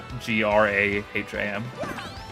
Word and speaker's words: Graham: And it it's spelled G R A H A M which is why we say Graham like Graham cracker.